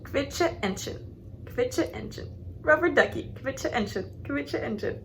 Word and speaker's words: Quietscheentchen: And then QU, is it? Yeah, it's like a KV sound, kv.